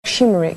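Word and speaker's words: şımarık: what's it about shim I have to pronounce like shimik shimik shim shim shimik means spoiled like spoiled the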